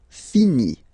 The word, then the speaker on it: finit: Il, elle finit. So I-T, final T not pronounced.